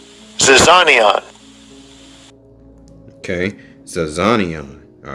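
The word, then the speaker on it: ζιζάνιον: Zyzizion, something like that, right? Zyzizion. All right. Let's see how it's spelled. Pronounced. Strong's G 2215. Zizanion. Zizanion.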